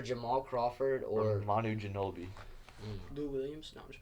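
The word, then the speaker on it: Ginóbili: Manu Ginobili.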